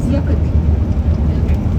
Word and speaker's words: Snæfellsjökull: So we're gonna say Snæ. Snai. A little bit louder. Snai. Snæfellsjökull.